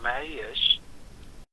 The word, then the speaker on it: Marius: The other name, it should be Marius.